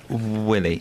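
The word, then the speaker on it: Wiley: Can you How would you pronounce it? Willie.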